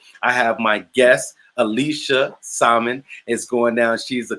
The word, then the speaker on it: Samaan: It's Samaan. It's Samaan.